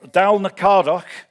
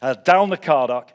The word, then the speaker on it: Dalnacardoch: her first impressions of Dal n cardok uh I've been I've been getting a hard time by the way from over there about the way I pronounce that so uh dalna cardock uh from her recent